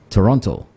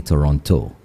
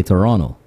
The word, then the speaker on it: Toronto: moment you say that Toronto they know a foreigner cuz they don't say Toronto in Canada they say Toronto the te is kind of like hushed silent Toronto just like in